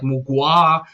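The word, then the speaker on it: Mgła: when you get in bands like uh mgla that it pronounces like mugua or batushka and all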